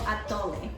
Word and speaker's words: atole: This is called Atole. Atole. I never can pronounce it.